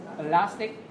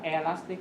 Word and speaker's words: elastic: Đấy, chúng ta đọc này từ này chúng ta xoa đầu tiên, ta đọc là elastic, đúng không? Chứ đừng đọc là elastic hoặc là elastic. Elastic.